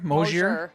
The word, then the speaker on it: Mosier: do you say your last name oh sure Mosier moistures hey how's it going welcome back to